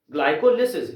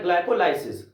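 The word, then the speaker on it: glycolysis: ग्लाइकोलिसिस या ग्लाइकोलाइसिस, किसी भी तरह से प्रोनाउंस करें।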